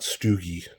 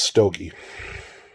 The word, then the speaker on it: Stogie: It's not Stoogie. It's Stogie.